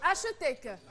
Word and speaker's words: HETC: Est-ce que vous pouvez me donner la prononciation exacte de votre école? C'est HETC.